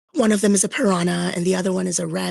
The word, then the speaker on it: Prna: That's how they said Prna when I first joined Discord. They're like, how do you pronounce Prna? Is it piranha because you eat all my soldiers? I was like, yeah, it is piranha.